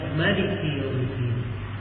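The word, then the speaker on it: مَلِكِ يَوْمِ الدِّينِ: Dan datang dalam sebagian qiraah di qiraah Sab'ah dibaca Maliki yaumiddin, mimnya dipendekkan, dibacanya Maliki yaumiddin.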